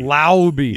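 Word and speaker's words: Laube: No, Dylan Lauby. Lauby. I don't know how to pronounce his last name. Yeah. I think it's Lauby. Yes. He is. Lauby? Lauby. Lauby. Yeah, that's right. L-A-U-B-E. Lauby.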